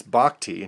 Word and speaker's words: Bochy: Some people mispronounce that as Bochy, confusing him with the other Bruce Bochy, but this is Bruce Bochy.